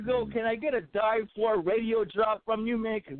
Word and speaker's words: Die4 Radio: It's Die4 Radio, the Mad 4 Report.